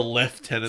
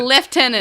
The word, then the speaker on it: lieutenant: How do you actually pronounce it? A lieutenant. Not a lieutenant. There's no F in it. It's a lieutenant.